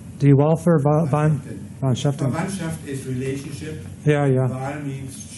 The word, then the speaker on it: Wahlverwandtschaften: Die Wahlverwandtschaften. Die Wahlverwandtschaften.